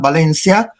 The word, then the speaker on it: Valencia: Here, in the manifesto, It came out in 87, in that beautiful catalogue called "Valencia", Note the Spanish pronunciation, "Valencia", is 87 dedicated to Joan Brossa.